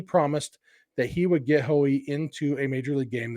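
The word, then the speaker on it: Haughey: in Ireland it's like hahi um but in in America it's generally just pronounced hoe or Howie um he pitched exactly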